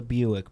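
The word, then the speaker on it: Buyck: pronounced like the car Buicks.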